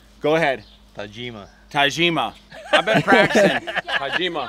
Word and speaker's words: Tajima: you to gima only I got correct you is how you say Tajima go ahead Tajima Tajima I've been practicing